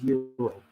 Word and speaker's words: gyro: Gyro, gyro. I don't get it. It's euro. The G is silent.